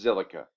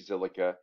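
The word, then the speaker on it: Zilliqa: so today's coin is silica often abbreviated by z-i-l because silica is hard to spell it's z-i-l-l-i-q-a it's a play on the word silica um i don't really get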